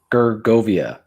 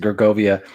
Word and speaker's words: Gergovia: uh at george um i don't know how to pronounce some of these words in the gaelic but uh gergovia i think that's how you pronounce it gergovia and it was and